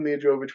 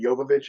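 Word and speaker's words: Jovovich: cool everybody loves when Movic wakes up naked we love her I'm sorry it's actually yovich I just I've been saying it wrong for so long I sometimes will slip into that it's yich uh but she wakes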